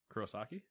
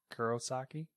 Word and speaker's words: Kurosaki: how you say that kurosaki kurosaki i can't do that well not that you did i meant like the instead of kiro kuro kuro that's how i was